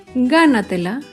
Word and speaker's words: gánatela: Por último, un ejemplo con la palabra gánatela. Gánatela se acentúa en la sílaba anterior a la antepenúltima sílaba.